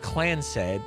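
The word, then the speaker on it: Clancid: The Clansid, pronounced Clans said, Clans said, The Clans said Trust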